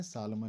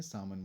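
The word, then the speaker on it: salmon: मछली का नाम है, प्रोनाउंसिएशन ध्यान रखें, सालमन नहीं है सामन बोलेंगे इसे।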